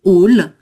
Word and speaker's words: hall: Donc, on a 2 mots, un hall, et là, on le prononce à l'anglo-saxonne, un hall.